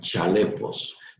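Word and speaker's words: χαλεπός: Esta palabra tiempos peligrosos, aquí está, viene de un verbo griego que se escribe como aparece en pantalla, se escribe jalepos, pero se pronunciaría un poco como chalepos, pero bueno, el punto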